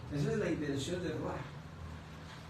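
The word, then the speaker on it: רוּחַ: En hebreo, la palabra espíritu es ruach. Ruach. Se escribe ruach. R-U-A-C-H. R-U-A-C-H. Entonces se pronuncia ruach.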